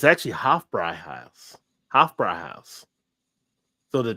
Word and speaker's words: Hofbräuhaus: Well, I know what an umlaut does over an O, but I did not know what an umlaut did over an A. Yeah, so it makes it like a higher pitch type, like a Hofbräuhaus. Like Hofbräuhaus.